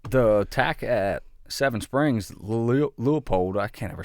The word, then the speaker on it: Leupold: at Seven Springs, Leupold, I can't ever say that right. How do you say that? Leupold.